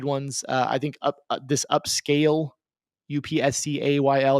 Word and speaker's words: Upscayl: There's one that I've been using, which is free, and it's called Upscale, but it's spelled funny. It's spelled Upscayl. Upscayl.